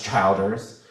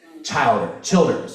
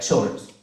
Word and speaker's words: Childers: Childers, which people pronounce Childers. And I'm like, well, you can say it that way, but like, that's not the country way. Childers, right? Childers, like you're chilling, right?